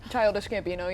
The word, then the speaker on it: Childish Gambino: gambo I don't know how you say it Childish Gambino yeah Childish Gambino sorry and then like a